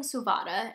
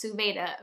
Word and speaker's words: Suvada: Cruel Design by Emily Suvada, which I've been pronouncing Suvada, and apparently it's Suvada, at least according to the audiobook narrator.